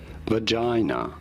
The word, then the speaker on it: vagina: Vagina. You do want to stress on the second syllable, the J syllable.